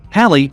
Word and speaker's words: Halley: Halley, rhymes with valley, was the first person to record what we call Bailey beads, which you see here.